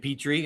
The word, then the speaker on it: Petrie: And hello to Petrie, or Pete, if you say it properly.